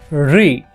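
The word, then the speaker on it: ऋ: चुन चुन इस तरह से चलते हैं ए री इसका उच्चारण देखते हैं इसको बोला जाता है रिसीव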